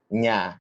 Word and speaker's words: ny: It's pronounced nya. Yeah. Nya, yes. Nya as in how does it? Nya as in nyata. It's like you have if you know the Spanish language, you've got the El Niño, La Niña, the Niña sound.